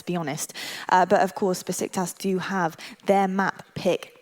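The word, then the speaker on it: Beşiktaş: me it's a Besiktas or something like that. It's pronounced Besiktas, I hope. That's what they've said.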